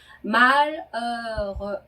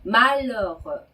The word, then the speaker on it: malheureux: 네, 뒤에 나오는 이 는 앞에 나온 발음보다도 훨씬 더 입을 작게 벌리는 오에서 에 발음하는 거예요. 그래서 천천히 발음을 해보자면 malheureux 이렇게 발음하는 겁니다. 네, malheureux 네, 이러는 거죠.